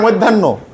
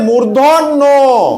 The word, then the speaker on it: মূর্ধন্য: ন ন এটা কিন্য তোমরা বলছো মধ্যান্য এটা হবে মূর্ধন্য মূর্ধন্য মূর্ধা মূর্ধন্য মূর্ধন্য